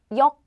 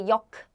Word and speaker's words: 역: Did you hear that? It's uk sound. 역. I didn't say yok. No, in Korean, that's not how we pronounce this 받침, this sound. We just stop breathe like yok, station.